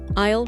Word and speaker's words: aisle: Low-key, get back to it. Let's pick this up later. I'll let you get back to it. Situation 4, running errands. Do you carry out of stock, in stock, aisle, pronounced I, declined, standard versus express?